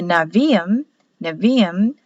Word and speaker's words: Nevi'im: The N-A is for the Nevi'im, which are the prophets, spelled Nebiim. B is pronounced as a V in Hebrew, but spelled B on the paper.